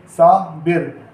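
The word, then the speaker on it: صابر: बे के ऊपर ज़ेर की हरकत यूज़ करेंगे, सा बिर।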